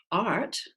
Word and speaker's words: art: at whereas if you have the word art same letters right but these two go together to make one sound ah if you're not American